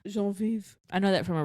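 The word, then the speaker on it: Geneviève: That's how you say it in French. Genevieve. Genevieve.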